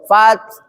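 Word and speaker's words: فتح: Adapun cara bacanya huruf akhir harus terasa sesuai makhorijul hurufnya. Nah, contoh nih. Contohnya nih. Idza jaa nasrullahi wal fath. Tuh, fath. Ya. Fath. Ada terasa kan?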